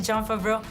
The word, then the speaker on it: Jon Favreau: Welcome to Mexico City, Jon Favreau.